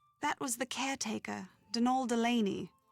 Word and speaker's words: Donal: That was the caretaker, Denol Delaney, not Donald, mind you. There's no D at the end, so it's pronounced Denal.